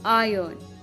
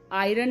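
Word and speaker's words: iron: silent कब होता है आयन स सुपर माट आयन को हम आयरन नहीं पढ़ते स को हम सर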